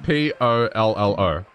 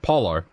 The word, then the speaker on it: pollo: The word chicken in Spanish is pollo. And it's spelled P-O-L-L-O. But it's pronounced P-O-Y-O. So that's what it was. So they would have said polo instead of pollo.